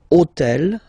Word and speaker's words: hôtel: took on purpose this hôtel, okay, because it starts with H, but remember that in French we don't pronounce H. Okay, so basically the first sound of the word is the vowel O.